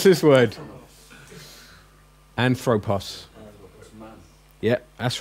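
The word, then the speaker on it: ἄνθρωπος: How do you pronounce this word? Anthropos.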